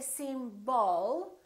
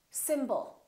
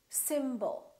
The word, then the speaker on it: symbol: we have two syllables the first syllable is stressed and the second syllable is reduced when we have a reduced vowel we don't pronounce it fully we don't say sbol we reduce it and